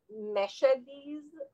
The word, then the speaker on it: Mashhad: people will pronounce it meshediz or uh um because mashad might be pronounced as meshed depends on where you're coming from i'm writing it as